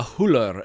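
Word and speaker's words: Hüller: correctly she's from Germany I looked up how to pronounce it online and they pronounced it with an American accent Sandra huller I was like you know what I don't think that's the way you say her name but she's having a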